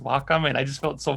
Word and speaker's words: Wacom: just want to let you know that it's pronounced Wacom.